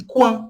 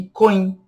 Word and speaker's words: coin: E quan, que é canto. Quan. Luan, quan. Cuidado para não pronunciar loin e coin.